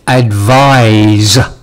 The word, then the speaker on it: advise: um some vocab pronunciation advice advice and advise advise I advise you not to smoke that is good advice um the sounds of